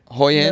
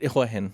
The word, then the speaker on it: Hua Hin: Hoi Hin? No, a bit Hua Hin. Nice. Got it. Cool. It's actually pronounced Hua Hin. Hua Hin. It's Hua not.